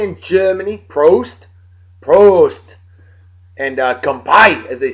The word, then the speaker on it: Prost: Prost. And Kampai, as they say in Japan. Thank you, Justin, for the proper pronunciation of Prost.